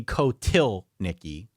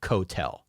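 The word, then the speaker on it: Kotelnicki: It's Andy Kotilnicki, not Kotel. Okay.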